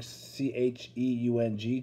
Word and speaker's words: Cheung: Spelled like Chung, C-H-E-U-N-G, Chung, Cheung.